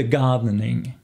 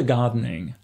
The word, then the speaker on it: gardening: faire du jardinage 12 de gardening 12 de gardening sans prononcer le mot idiot de gardening a love song de gamme mais faire la